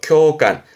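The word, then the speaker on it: 共感: 쿄간 항상 이 한자 발음 조심하세요. 쿄입니다. 쿄간 공감하다의 쿄간 뭘까요?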